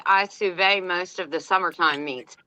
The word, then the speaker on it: sous vide: And now Deb R said I sous vide most of the summertime meats. And you must be from Georgia. That's sous vide, sister, not sous vide.